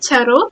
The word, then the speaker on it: charot: short yeah okay so how do you say it chot chot it's it's c h a r o t Okay chot yeah okay